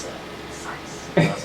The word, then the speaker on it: Zeiss: I remember there was this, it's pronounced Zeiss, but I was saying, I think Zeus. That's Z-I-E-S-S? Yeah. Yep. Yeah, Zeiss, yeah. And someone was like, hey, it's Zeiss.